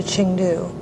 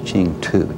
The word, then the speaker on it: Chengdu: Of course, everybody surmised that was Chengdu, T-U was the way we pronounced it.